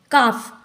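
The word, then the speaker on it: calf: silent हो जाता है काफ अब हम देखेंगे फफ के पहले आए हुए य होता है व साइलेंट होता है काफ में एल साइलेंट है यहां पर हाफ यहां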